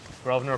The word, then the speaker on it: Grosvenor: Grosvenor pronounced silent S.